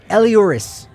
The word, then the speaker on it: Elehuris: But no, Elehuris. Elehuris. It's almost exactly how it looks, but again, almost, yeah.